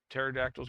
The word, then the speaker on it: pterodactyls: Why do you never hear pterodactyls going to the bathroom? P is silent.